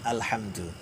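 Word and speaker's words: الحمد: katakan alhamdu lillahil hamdu ini kalau baca al-qur'an agak sedikit hati-hati ya Hai perbedaan kalau al-hamdu jadi bacanya menggunakan huruf H Hai itu memang pujian hamdun itu kan pujiannya hai tapi kalau meleset misalnya menjadi Alhamdulillah itu agak perawan artinya kegersangan atau kematian bisa jadi Hai alhamdulillahirobbilalamin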